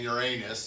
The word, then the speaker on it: Uranus: exciting pictures of the Voyager out flying around Ur anus you know it's just there's just no way